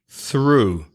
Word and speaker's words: through: the second syllable yeah next word through th ro ug H through I'm looking through the window Group 1 voiceless next word them then